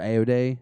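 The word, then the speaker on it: Ayoade: thinking of which is voiced by Richard ayo day is how he say his name is that British comedian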